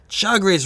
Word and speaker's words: Chagres: you can see that the Chagres River, that's roughly how you pronounce it, runs through this whole area of low elevation.